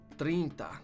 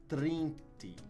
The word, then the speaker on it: trinta: 30 is trinte. Right, trinte? Trinta. Trinta. Okay, there's an A at the end of that.